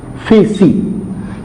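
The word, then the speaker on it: φύσις: A Greek word है, जिसको pronounce जो हम करते हैं वो है फेसी. ये जो वर्ड आपके सामने ग्रीक लैंग्वेज का लिखा गया है, और इसको हम पढ़ते, ये जो ग्रीक वर्ड है इसकी प्रोनाउंसिएशन क्या है, फेसी.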